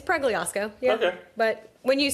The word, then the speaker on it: Pregliasco: It's well you know it's Plyiosco.